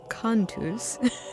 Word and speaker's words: Cantus: Well, Aaron Humble and Paul Rudoi of Cantus, I said it wrong at the beginning, Cantus.